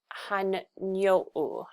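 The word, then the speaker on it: Hanunó'o: the Philippines and um I believe that you pronounce this as Han hanu hanu so these are the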